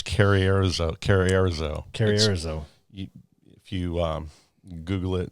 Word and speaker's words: Carrizozo: I have no idea how to pronounce that. Road trip. Carrizozo? New Mexico? I've been there. It's Carrierizo.